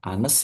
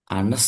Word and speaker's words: honest: Jujur bahasa Inggrisnya itu adalah anes ya. Tulisannya hones tapi cara bacanya bukan pakai H karena tulisannya adalah hones tapi cara bacanya adalah anuses.